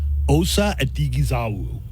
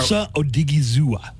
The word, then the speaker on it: Odighizuwa: Osa Odighizuwa.